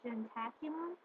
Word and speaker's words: ientaculum: Breakfast was called gentaculum. I's are sometimes pronounced like J's.